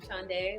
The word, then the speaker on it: Shande: Shande, is that how you say it? Did I say it right? All right. Alyssa. Yeah, you said it right. Shande, like the day of the week. Saturday, Sunday, Shande.